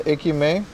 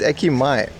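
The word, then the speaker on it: 駅前: I was training her out the difference in ekime. I mean, you you can say it that way. That's just not how you pronounce it. It's ekimay.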